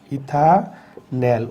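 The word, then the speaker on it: ethanal: ইথানেল উচ্চারণটা খেয়াল করতে হবে, এটা হচ্ছে ইথানেল।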